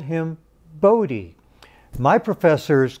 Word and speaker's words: Bode: netherlands he was dutch his mother preferred the dutch pronunciation which i've been told is buddha and but his colleagues